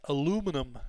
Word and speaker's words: aluminum: Aluminium is the EU, like the British-Irish pronunciation, and aluminum is the American-Canadian pronunciation.